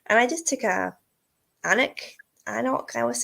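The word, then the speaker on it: Alnwick: And I just took a Annock.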